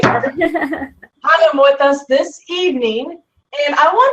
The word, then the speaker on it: Higham: It's Higham, right? Yes, said it right. Higham with us this evening.